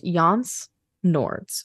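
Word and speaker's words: Jānis Nords: I think it's pronounced Jans. Nords. Jans Nords. But like it's spelled J-A-N-I-S.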